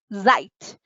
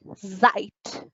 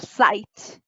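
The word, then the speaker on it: seit: Whenever you can see S word in German, you will pronounce it as Zeit. S-E-I-T, Zeit, not sight.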